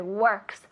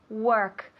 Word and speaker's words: work: Works. Walk, andar. Work. Con la R un poco más fuerte.